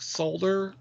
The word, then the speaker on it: solder: So how about apple? You pronounce the L in apple. Yeah, I understand that there's an L there and you should pronounce it. So why don't you pronounce it in solder?